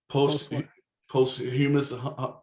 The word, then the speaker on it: posthumous: Is it post? How do you say that word? English teacher, English major. Posthumous. Post.